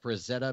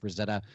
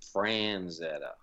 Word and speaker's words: Frazetta: out more about Frank Frazetta and where you could also look into this new book more besides the Vanguard website I think the most common mispronunciation of his name is Franz Etta you know I get